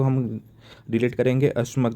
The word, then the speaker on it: अश्मक: को हम डिलीट करेंगे अश्मक जैसे ये अश्व जैसे जैसे प्रोनाउंस हो रहा है।